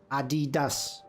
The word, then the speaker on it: Adidas: Yeah, that's how it's pronounced. Adidas.